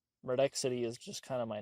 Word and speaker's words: Murdexity: If you just look at how it's spelled, it'd be like Murdexy. Murdexy. Murdex City. Murdex City. Like, city as in like C-I-T-Y. Maybe I could just like change the lore. I don't know. Yes, the door. It was Murdex City the entire time, but like said quickly, it's Murdex City.